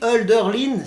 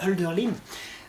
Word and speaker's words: Hölderlin: parce que tu vois il ya le tréma sur le haut ce qui fait qu en allemand ça ne se prononce pas haut mais eux alors ce qui est joli aussi hölderlin s'est équilibré entre les